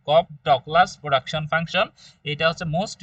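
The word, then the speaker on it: Cobb-Douglas: এটা এটার উচ্চারণ হচ্ছে কব ডকলাস প্রোডাকশন ফাংশন। কপ ডকলাস প্রোডাকশন ফাংশন।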